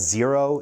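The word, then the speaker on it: Xero: to do this is called zero it's spelled x ero it's an app online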